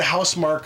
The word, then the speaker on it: Housemarque: Because if, you know, like the Housemarque or Marquee, however you want to pronounce it.